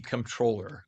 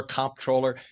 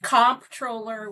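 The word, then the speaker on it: comptroller: it and they say they've heard it pronounced controller, comproller. Tell us what a controller does and it's all about the bucks, right? That's absolutely right. And it is comproller with a P.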